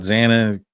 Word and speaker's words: Xana: And then it talks about Xana, talks about her first experience. Says, hi, I'm Xana, pronounced like Xanax, but without the X, and how petite and